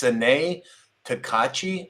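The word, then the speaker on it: Sanae Takaichi: I'm going to butcher her name, but it's Sanae Takachi, I think it's pronounced.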